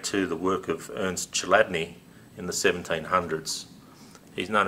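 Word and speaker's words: Chladni: it up on YouTube it's spelled c h l a d n i chadney and many videos there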